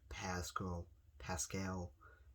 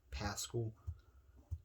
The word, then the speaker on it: Pascal: Hilton, Michael Pittman Jr., and Zach Pascal, as that's how you really say his name. I mean, it's Zach Pascal. So when somebody says Pascal, it's not because they don't know how to say his last name.